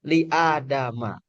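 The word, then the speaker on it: لآدم: Tapi untuk khusus gir munsarif maka tanda majrurnya fathah begitu sehingga dibacanya liadama. Jadi posisinya dia majrur tapi dibacanya tetap ma bukan mi.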